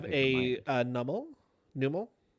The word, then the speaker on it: Numel: Numel. How do you pronounce it? I think it's Nummel.